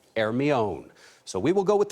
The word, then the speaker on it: Hermione: The British call it Hermione, but the French pronounce it Hermione.